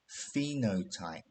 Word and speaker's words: phenotype: When we describe how a living thing looks, we describe its phenotype. Okay, so the PH is pronounced as a F sound.